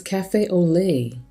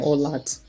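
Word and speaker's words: café au lait: in French hold on oh it's cafe au lait I was saying old lots Thank You YouTube alright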